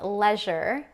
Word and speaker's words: leisure: Leisure is lezzure.